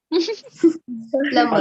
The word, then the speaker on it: plumber: प्लम्बर, Plumber. प्लम्बर मत बोलना, प्लम्बर। प्लम्बर। और are silent, are silent, प्लम्बर।